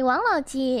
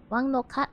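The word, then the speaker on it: 王老吉: Sorry, Wang Lao Ji is a Mandarin pronunciation because Monkey's not very good at Cantonese, but it's actually a Cantonese drink, so Wang Lo Kat is probably a better way to pronounce it.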